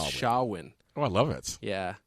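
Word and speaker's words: Samhain: where pris right uh it's spelled if when you look at it it's spelled Sam ha oh s i Sam ha but you pronounce it shawin shawin okay yeah and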